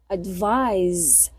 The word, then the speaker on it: advise: Advice and be close attention to the pronunciation. I said advice. Advise.